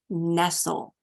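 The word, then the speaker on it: Nestlé: terms of American English it is Nestle as if you're snuggling up or nestling in so having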